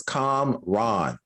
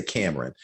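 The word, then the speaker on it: Kamran: um she and and i said this his name wrong the last episode is com ron okay i say cameron but um com ron's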